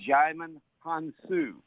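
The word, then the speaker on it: Djimon Hounsou: talking Oscar buzz for xyman Hanson I know you had trouble with that name but that D is silent so you just say xiamen hansu and uh he's one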